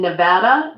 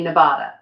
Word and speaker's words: Nevada: I live in Nevada, and people always say Nevada, and we're constantly correcting them.